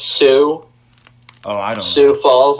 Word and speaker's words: Sioux: sure it's without Sioux Falls hmm it it's pronounced Sioux I'm Sioux Falls like Sioux City Iowa I